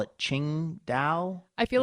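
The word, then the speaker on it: Tsingtao: have you noticed how hard it is to pronounce the name of that beer some people call it Ching da I feel like you have to mumble it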